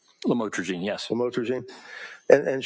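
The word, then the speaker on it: lamotrigine: drugs about the the lamel otherwise known as lamatroine. Did I pronounce that right? Lamotraine.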